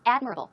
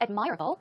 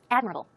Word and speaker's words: admirable: a look at this it's admirable not admirable this stress goes right there on the first syllable so it's admirable admirable good job let's move